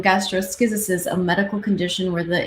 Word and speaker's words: gastroschisis: the baby suffering from gastrosis I looked up how to say double check how to say this gastroskysis some of those big words the poster of the baby suffering from gastroschisis a medical condition where